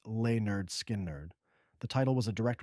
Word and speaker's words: Lynyrd Skynyrd: In 1973, Lineard Skynerd released their debut album, pronounced Lay Nerd Skin Nerd.